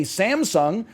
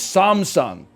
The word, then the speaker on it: Samsung: in the commercials in the U.S they say Samsung well I'm sorry to tell you the people who make the commercials for Samsung in America are racist okay because it's Samsung I'm pronouncing everything in the exact intonation that